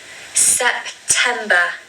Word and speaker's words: September: And we need a schwa at the end of the word. So usually words that end in ER are usually a schwa sound in the British accent. So you really just need to say at the end, not okay? So it's September, September. September for me still feels